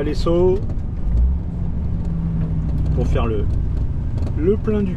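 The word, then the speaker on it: Lezo: Bon et ben, j'arrive à l'essau pour faire le plein du camion. Alors, les saut, ça s'écrit L E Z O, mais en espagnol le Z il se prononce S et et c'est dans la banlieue de Saint-Sébastien.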